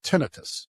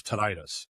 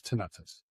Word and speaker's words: tinnitus: So my entire life I've been pronouncing this tinnitus. Do you know that's incorrect? It's tinnitus. I've looked it up back and forth, and it said it can be pronounced both ways, but the technical way is tinnitus.